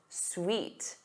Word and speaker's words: suit: So repeat after me. Oot, oo, oot. Suit, suit.